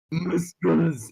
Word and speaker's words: muscles: Also, there's a C in muscles, but still. Fuck. I'm not writing that now. It phonetically reads muscles. Muscles.